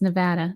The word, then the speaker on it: Nevada: over the world but here in Nevada or Nevada is how they say it here I I keep having to remind myself it's Nevada not Nevada I'm used to Nevada um they found a